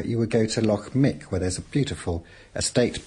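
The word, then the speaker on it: Muick: it's spelled mu u i c but it's pronounced Mick and that's in the Lo Nar group I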